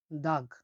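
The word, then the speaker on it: tog': একটা এরকম ইয়া থাকে জি এর উপরে, তার উচ্চারণটা হবে গয়ের মতো, বাট একটু নরম হবে, সফট। উদাহরণ দেখলে বুঝতে পারবো আমরা, যেমন দাগ, দাগ, দাগ মানে হলো পাহাড়, দাগ মানে পাহাড়, পাহাড়কে বলা হয় উজবেকিস্তানের দাগ।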